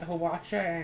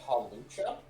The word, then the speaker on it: Hawlucha: So what is it that we need to find Hawacha and something. Oh, watch out? What? In order to make the Brick Break TM. Are you saying Hawlucha?